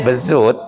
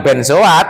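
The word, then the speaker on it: Bézout: Oh, bezut itu bacanya bezut. Hmm. Bukan benoat.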